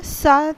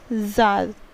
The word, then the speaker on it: Tsar: इसका रूलर था सार निकोलस सेकेंड। सो सार निकोलस, सार और जार दोनों ही प्रोनाउंसिएशंस इसके लिए हैं। सो यू कैन रीड इधर जार और सार।